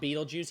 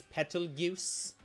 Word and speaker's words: Betelgeuse: Well, no, in ReZero, there's a guy, who is supposed to be, it's not Beetlejuice, he's Betelgeuse. They are very clear that the pronunciation difference matters and is important.